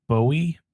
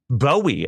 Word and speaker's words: Bowie: put into it for his is actually pronounced Bowie. Bowie.